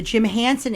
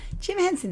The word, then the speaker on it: Jim Henson: full installation of the Jim Hansen experience and it is I recommend it Chris Hanson or Jim Henson Jim Henson did I say it wrong you said Hanson oh like I thought